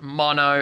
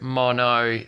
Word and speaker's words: Mono: Actually, cunts, that would be pronounced Mono, as in stereo, mono.